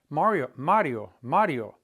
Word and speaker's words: Mario: Mario. That I-O is like the yo. It's one syllable, Mario. No accent mark.